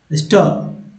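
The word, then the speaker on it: stir: हिलाना डुलाना का स्टर उच्चारण क्या करेंगे? स्टर। स्टर का मतलब क्या होगा? हिलाना धुलना। स्टर बोलते हैं स्टर स्टर स्टायर नहीं बोलेंगे स्टर याद रखिएगा स्टर।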